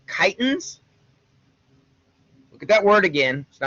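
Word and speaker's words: chitin: have that whether we're talking about things called kitens look at that word again it's not Chi t i n even though it's pronounced very much like that it's a kitan um mantle gut foot okay the gastropods the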